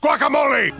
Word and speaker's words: guacamole: Thankfully, due to master negotiations from Zap Brannigan, these would be great with guacamole. Stop eating our young! And it's pronounced guacamole!